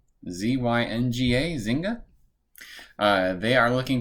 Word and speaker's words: Zynga: coming out i believe the way you pronounce the name of the company is zynga z-y-n-g-a zynga uh they are